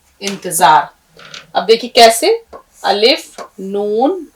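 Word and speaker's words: انتظار: plus अलिफ plus रे इंतजार अब देखिए कैसे अलिफ नून ते फिर जोय का शोष फिर अलिफ आपने अलिफ नून जर इन ते जबर ता जो अलिफ जबर जा रे साकिन इंतजार इसको आपको बारबार करके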